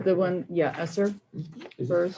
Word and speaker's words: ESSER: Esther? The one, yeah, Esser. Is it- first. How do you pronounce it?